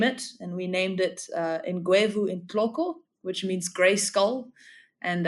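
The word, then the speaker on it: Ngwevu intloko: some people what is it so it's it's pronounced in guu in clo so guu is the genus name and in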